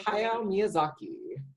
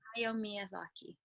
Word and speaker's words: Hayao Miyazaki: It's called Howl'ss Moving Castle, and it is a animated film from the legendary Tori, can you pronounce his name? Hayao Miyazaki. Hayao Miyazaki.